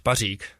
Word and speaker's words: Pařík: see your name so the right way to pronounce it is uh Pik but we have like a rolling R there so that's like just